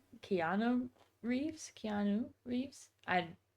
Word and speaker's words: Keanu Reeves: And by the way, I don't think going to mispronounce this again. Canoe Reeves.